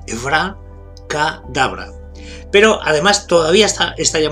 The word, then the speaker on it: abracadabra: Sería Evra, con acento en la A, Evra Kadabra.